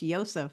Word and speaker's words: Joseph: it was not pronounced Joseph it was pronounced ysep with the Y because there was no letter J in the Hebrew language or Aramaic back then um but that is